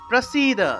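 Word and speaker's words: প্রসীদ: প্রসিদ, দন্তস্বর উচ্চারণ হলো স, তাহলে প্রসিদ।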